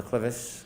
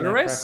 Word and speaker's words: clivus: Were you a presenter in fractures of the clivus, clinical and radiographic features? Yes. Am I The pronouncing that clitoris?